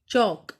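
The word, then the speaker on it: chalk: Next is चौक, चौक में L silent है, ऐसे हमने लिखा टॉक, वॉक, इसमें भी एल साइलेंट है।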